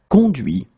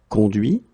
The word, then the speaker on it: conduit: Remember that this final T is not pronounced.